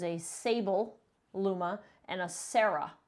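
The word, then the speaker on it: Sera: sable luma and a sarah luma which is spelled s-e-r-a sarah so first the sable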